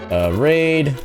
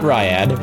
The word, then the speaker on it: Raid: Raid. Not Ryad, raid.